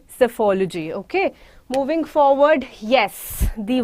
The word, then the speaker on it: psephology: Now, you will not say the word as peaceology. You will not say as something other. The word here is called psephology. The word here is called psephology. P here is silent.